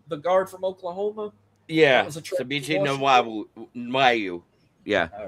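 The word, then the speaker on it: Febechi Nwaiwu: Yeah, Fabici Nawai.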